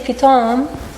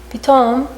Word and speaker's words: Pithom: But if you match it to the Hebrew word Pithom, which is actually pronounced the same, Pithom, it means suddenly in Hebrew.